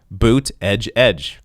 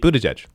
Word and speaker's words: Buttigieg: Pete Buttigieg. Pete Buttigieg.